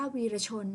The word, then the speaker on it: วีรชน: ต่อ ไป คำ ว่า วีระ วีระ ชน นะ คะ ตัด สละ ออก นะ คะ ก็ ได้ คำ ว่า วีรชน นั่น เอง นะ คะ คำ ว่า